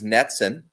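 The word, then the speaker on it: NETCCN: acronym and ours is netsin rhymes with jetson a national emergency telecritical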